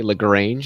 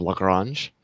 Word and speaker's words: Lagrange: They always say Lagrange instead of Lagrange.